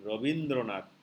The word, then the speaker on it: Rabindranath: if you talk about, it is written Rabindranath, so not E, but any Bengali and non-Bengali, whoever for that matter, they will not pronounce it like the long E for that matter. You see, it's a kind of short E, though it is being